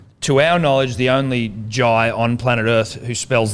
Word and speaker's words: Jhye: To our knowledge, the only Jhye on planet Earth who spells their name Jhye. Jhye. Jhye. Yes. Jhye. Very aggressive. If you're going to put the H in there, I will pronounce it.